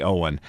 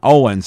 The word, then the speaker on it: Owen: tally records fuzzy Owen his name is fuzzy Owen not Owens and a lot of people mispronounce that when they're talking about Merl hagard they'll say yeah he was managed by fuzzy Owens no his last name was Owen or actually that is